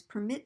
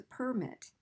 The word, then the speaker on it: permit: So one is permit me and the other one is a permit, like a driver's permit, okay? So the rule here is to stress the second syllable in the verbs and the first syllable in the nouns.